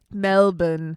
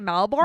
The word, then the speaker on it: Melbourne: going back to Melbourne Melbourne Mel melbour you can say it however you want though melbour you can say it however you want you want to say Melbourne don't say malborn malborn but first pronounce the a you could do whatever